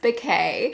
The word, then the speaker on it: Bocaj: It's Jacob backwards, but it's pronounced Bouquet.